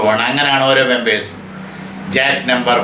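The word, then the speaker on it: Jacques: ഈ ഗ്രൂപ്പിലെ ഓരോ അംഗത്തെയും ജാക്ക് എന്നാണ് വിളിക്കുന്നത്. ഫ്രാൻസിൽ ജാക്യുസ് എന്ന് എഴുതും, ജാക്ക് എന്ന് ഉച്ചരിക്കും.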